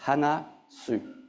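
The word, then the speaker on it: 話す: Hanasu, you can write it like this, hanasu. So there's a hiragana here, right? One kanji, one hiragana, I have to pronounce it in Japanese, hanasu.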